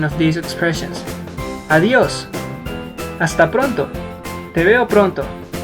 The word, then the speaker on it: adiós: The most common way to say goodbye in Spanish is using adiós, like this. Adiós. Adiós, Ana. Try not to pronounce adiós, but adiós.